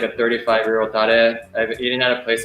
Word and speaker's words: tare: My master in Japan has like a 35-year-old tare.